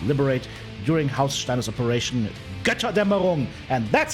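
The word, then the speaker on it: Götterdämmerung: that Tyr helped liberate during House Steiner's Operation Gotterdammerung. And that's how you pronounce it.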